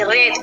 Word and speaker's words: wrath: Right में से WRATH रेत पढ़ेंगे, क्या पढ़ेंगे, रेत, WRIST रिस्ट, ठीक है।